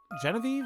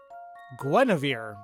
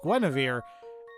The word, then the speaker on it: Guinevere: Genevieve? Oh my god, now I can't remember how it's actually pronounced. Guinevere. Excuse me, it's Guinevere.